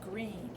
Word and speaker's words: Greene: pigeon asked politely I'm your new student my name is green that's green with a silent e at the end and I just moved